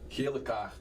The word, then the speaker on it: Gele kaart: Gele kaart. Oh, that's an easy one. That's yellow card. Yellow card. Yeah. Yellow card. Yeah, just how do you say it? Gele kaart. Gele kaart.